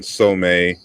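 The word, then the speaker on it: Sobonfu Somé: so s-o-b-o-n-fu and then Somme is s-o-m-e but just with the accent on the E okay uh so boneful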